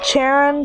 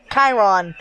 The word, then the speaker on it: Chiron: So, like, the main parts that we need for the first book filled: Aries, Luke, Nancy, Charon slash Mr. Brunner, or Chiron. Sorry, I keep mispronouncing his name.